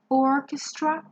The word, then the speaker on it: orchestra: a little bit different Orchestra the stress is on our third syllable orchestra number four is a genre